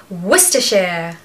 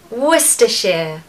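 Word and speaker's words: Worcestershire: it's always so cute number six is wer share wer share wer sheare another word where you can just forget the spelling just ignore all those little letters they mean nothing I want you to just say wer Shear wer she this is one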